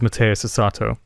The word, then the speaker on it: Mateus Asato: ago but that's not it's got to be Mateus Asato I feel like I'm mispronouncing his name and I I just I don't want to butcher it I'm looking it up it is Mateus Asato super tasty guitar playing mmm he's one of